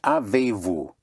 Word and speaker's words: avez-vous: Have you or do you have is avez-vous? Avez-vous, have you, avez-vous, avez-vous, avez-vous. Avez-vous is spelled A-V-E-Z or A-V-E-Z hyphen V-O-U-S.